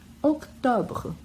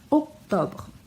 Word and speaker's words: octobre: Octobre. Aqui a gente pronuncia bem o C antes do T e não pronuncia o E no final. Octobre.